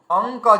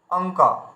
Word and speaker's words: অঙ্ক: তাহলে আমরা কি উচ্চারণ করছি, অঙ্ক। দেখুন আমরা কিন্তু অঙ্ক যখন বলছি ওই উয়াকে কিন্তু আমরা উচ্চারণ করছি। এই দেখুন আমরা এইভাবে উচ্চারণ করছি অঙ্ক, মানে অ উয়াই কয় অঙ্ক।